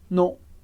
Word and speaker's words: non: E atenção só para a pronúncia, que a gente não fala 2 sons como no português, não. A gente tem simplesmente non, non. É um som só, que é como se fosse o som O, a boca muito parecida